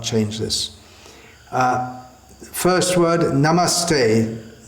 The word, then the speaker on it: namaste: So we should pronounce it as is given in the Shastra and not change this. First word, Namaste, not Namaste.